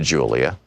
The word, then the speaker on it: Julia: I began to speak to Julia, pronounced Julia, in Spanish.